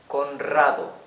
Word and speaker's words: Conrado: But when it is at the beginning of a sentence or doubled or between after a consonant as here, it's the rough sound of the R, Conrado, okay?